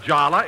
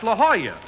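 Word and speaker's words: La Jolla: a lovely place jack that's not Lala it's La Hoya that's how you pronounce it in Spanish oh oh I didn't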